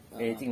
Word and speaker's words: Beijing: Nah, Beijing ya. Beijing bacanya. Kamu bisa bahasa apa, Sun?